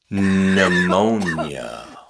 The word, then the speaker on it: pneumonia: The P is silent. pneumonia psychic Hmm.